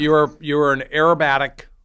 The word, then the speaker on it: aerobatic: So you're an aerobatic pilot. Did I hear that right? Acrobatic? How do you say it? Aerobatic. Aerobatic. Okay.